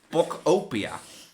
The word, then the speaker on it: Pokopia: Oh ja, ik pronounced it wrong still. How was that a bit? It's Pokopia.